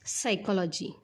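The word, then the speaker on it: psychology: त्यावरून तुम्हाला कळच असेल एस वर्णन उच्चार होतोय म्हणजे पी हा काय असणार आहे रे सायलेंट काय होतो बघा ह्या शब्दाचा जो काही प्रोनन्सिएशन तो काय होतो बघा सायक सायकोलॉजी Saiko logy Saiko logy म्हणजेच काय मानसशास्त्र म्हणजेच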